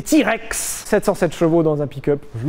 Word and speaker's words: TRX: cool en plus il existe en TRX prononcé T-Rex 707 chevaux dans un